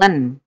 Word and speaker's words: ln: fungsi logaritma natural eh disingkat dengan huruf LN jadi singkatannya LN itu ada logaritma natural bacanya l Len Len X Nah di sini ada